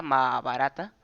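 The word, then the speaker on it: Mahābhārata: también más barata Ajá se pronuncia más barata escrita por biasa y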